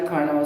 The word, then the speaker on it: Carnot: we have carbon cycle karna meaning silent t that's what we have